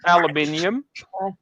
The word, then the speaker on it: aluminium: Ralph, here, like we say aluminum. Yes, you say it the wrong way. You are the only people in the world who say it wrong. The rest of the world says aluminium. Wait, how is that? Aluminium. slower. There's one extra I in there.